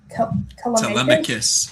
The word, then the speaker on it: Telemachus: Oh my god, I always forget how to pronounce his name. Telemachus.